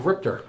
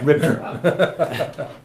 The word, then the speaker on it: RIPTA: You got to say it right. RIPTR. Yeah, RIPTA.